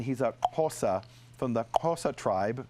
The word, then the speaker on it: Xhosa: He's a Xhosa from the Xhosa tribe. I'm trying to pronounce the name of the tribe. So and it's got a click.